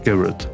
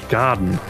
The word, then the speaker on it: Garret: Garrett. Oder Garrett von mir aus. Aber er hat den Garten ausgesprochen. Also so wie der Garten im Englischen. Garden.